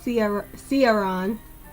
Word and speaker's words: Ciaran: Ciaron.